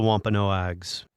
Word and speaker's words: Wampanoag: What happened to the Wampanoags? Well, and I think I keep mispronouncing their name, so. No, you're doing just fine. Wampanoag is correct.